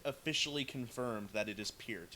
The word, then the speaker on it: Peart: The band officially confirmed that it is Peart. It's P with ear in front. It's an ear with P in front of it. Peart.